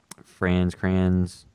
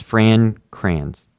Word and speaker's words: Fran Kranz: Franz Kranz. I think his name, whatever his name was from Cabin in the Woods. How am I mispronouncing names? Yeah, it's Fran Kranz.